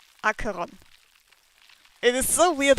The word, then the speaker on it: Acheron: Akiran. Acheron.